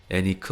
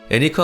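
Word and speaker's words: Henrique: 그리고 이렇게 인류의 역사를 바꾼 탐험의 시대를 시작한 인물, 바로 포르투갈의 항해왕 에니크 왕자입니다. 에니크 왕자는 포르투갈에서 아비스 가문의 1대 비제유 공작 인판트동 에니크로 불렸습니다. 에니크는 스페인식으로는 엘리케라고 읽고 영어로 하면 헨리죠.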